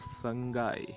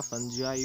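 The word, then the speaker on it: fungi: With the study of फंगाई, है ना, या फंगी जिसको आप कहते हैं, या फंजाई भी इसको कहते हैं, डिफरेंट टाइप ऑफ प्रोनाउंसिएशन करते हैं लोग।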